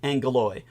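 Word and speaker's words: Ἄγγελος: surnamed Angelus or Angelus is Latin and is a westernized version of its Greek original which is more like angalo uh the name England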